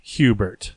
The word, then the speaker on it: Hubert: of the jobs Hubert it's actually pronounced who the bear who bill yes it French yeah it's a French last name agent es or silent